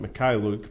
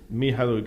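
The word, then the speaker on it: Mykhailiuk: Well, the bad news is Sviatoslav Mihailuk, and they always pronounce it Mikhailuk, but Mihailuk is the correct pronunciation according to what Svi told us.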